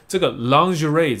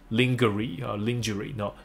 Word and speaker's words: lingerie: on a dramatic shift for the brand，所以当这个 lingerie 这个词、就应该也不是英文字啦，那它发音就不是什么 lingerie，no lingerie，那它的意思就内衣。好，所以你想啊，不是 underwear 吗？可以，可是你也可以用比较 fancy 的话来说，就是 lingerie，所以